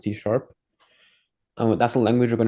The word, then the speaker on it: C#: called C that's this C hashtag here it's pronounced TP that's the language we're going to be using